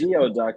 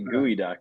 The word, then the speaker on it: geoduck: what they look like SCE yeah but it's geod duck but they pronounce it gooey duck and it's supposed to be delicious especially if